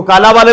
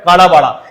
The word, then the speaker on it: काला बाड़ा: दोस्तों काला वा देवता इसको काला वाला भी बोल सकते लेकिन राजस्थानी में इसको ला बोलते है ना काला बाला भी बहुत जग मिला है लिखा हुआ मिलेगा आपको काला बा शुद्ध उच्चारण जो है काला बाड़ा इसका अर्थ होता है